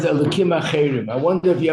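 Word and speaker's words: אלהים: The reason why we don't pronounce the hey, because it's Hashem's name, but if it's other gods, we can say the hey. And guess what? There are in a lot of communities, they actually do that. They pronounce the hey. They say it with a hey.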